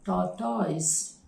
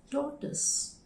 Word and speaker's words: tortoise: The next word, normally people pronounce it as tortoise, tortoise, but the right pronunciation is tortoise, tortoise.